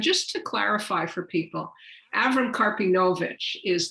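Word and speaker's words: Avrom Karpinovitsh: sure so uh our avram karpinovic and just to clarify for people avram karpinovic is that's the yiddish pronunciation of his name abraham carpinowicz is the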